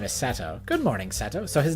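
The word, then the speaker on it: Setou: Right, I have to remember that it's an O sound. It's not pronounced in the English way. Seto. So his actual name is Seto.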